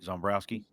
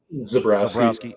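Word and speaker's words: Zebrowski: Did I say his name right? Zombrowski. Zabrowski, Zabrowski. yeah, Zabrowski obviously came up or learned under Andy Kotelnicki, right?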